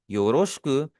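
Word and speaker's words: よろしく: योरोष्क इसका जो बीच वाला आई है ये हमारा साइलेंट होगा। ठीक है? इसकी प्रोनाउंसिएशन को कोशिश करें। मेरे साथ-साथ आप भी प्रोनाउंस करते रहें। योररोष्क ओनेगाई।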